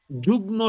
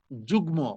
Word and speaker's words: যুগ্ম: যুগ্ন সভাপতি বলে। যুগ্ন যুগ্ম উচ্চারণটা হবে যুগ্ম।